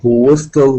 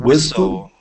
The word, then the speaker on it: whistle: People who whistle when they are happy. Who, but Like but that? the pronounce is good. Whistle. Whistle. Whistle. T is silent.